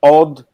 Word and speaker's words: Audemars: I didn't even Audemars. say the S. I'm talking about Audemars.